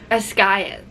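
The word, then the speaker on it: Basgiath: Ascayeth, that's how you say it.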